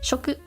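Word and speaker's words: 食: part section or copy of a publication is pronounced uh there we go this is food or eat Shoku and oh wait no I messed up that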